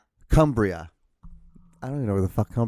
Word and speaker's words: Cumbria: reach the hospital in Cumruck. I did not pronounce that correct at all. Cumbrick, yeah. Hold on. We're going to get this. Cumbria.